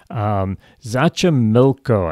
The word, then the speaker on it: Xochimilco: Xochimilco, I think is how you pronounce it. It's Xochimilco.